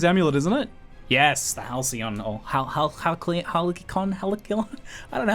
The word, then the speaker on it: Halcyon: But the amulet drop is pure profit, so it's pronounced Halcyon according to chat, so not bad.